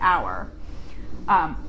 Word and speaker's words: hour: Madoplita asks how to pronounce hour, like the time, like it's 5 o'clock on the hour. Hour, like O-U-R, and or, O-R. So when it comes to talking about the time, you say hour, like in 1 hour.